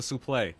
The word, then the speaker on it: suplex: the last guys to call a suplex a soup play yeah this is how it used to be pronounced doesn't look like